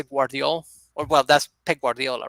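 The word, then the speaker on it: Gvardiol: or well that's peg guardiola right joseph guardiola but he's uh his name is guardiol if you pronounce the u like the v like the u you know which is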